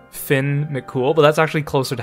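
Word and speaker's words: Fionn mac Cumhaill: i keep calling him fian mikumo and it's actually it's actually closer to being pronounced as finn mccool which sounds like a fake name finn mccool but that's actually closer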